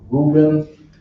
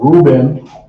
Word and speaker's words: Reuben: So Reuben, right? In Hebrew is Ra'aban. Ra'aban, right?